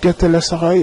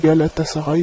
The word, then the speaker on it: Galatasaray: Et j'ai prononcé mal parce que je dis c'est Galatasaray alors que c'est Galatasaray. Oui, j'ai inversé les deux lettres, le L et le T. C'est d'abord le L et ensuite le T et pas le contraire.